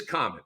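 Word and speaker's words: Khaman: It is common. Okay. All right. So I'm going to not overthink it. It's like the word common.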